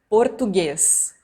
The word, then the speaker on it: português: но особенно в произношении Европейский вариант на слух более закрытым например они говорят как будто не каждый глаз не произносит А в Бразилии мы говорим португаз португаз и произносим каждую гласную все четко Так что если вы